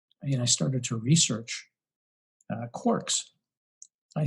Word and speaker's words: quark: are connected through matter, through energy, through these quarks.